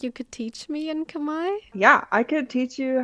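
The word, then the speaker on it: Khmer: people call Cambodian but the actual name is Kamai and it's spelled k hm e r some English too can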